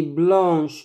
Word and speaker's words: blanc: La gomme est blanche. Le mouchoir est blanc. Avec C à la fin, ne se prononce pas.